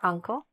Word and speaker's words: uncle: uncle Who is your uncle? Okay? So, first let's get the pronunciation, all right? Um so, uncle The stress is in the beginning.